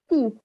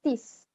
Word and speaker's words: teeth: Jadi teeth. Tapi dihati-hati lagi. Lebih dihati-hati lagi, pronounce-nya jangan sampai terdengar seperti tis. Karena banyak yang mencoba seperti pronounce-nya itu seperti tis gitu.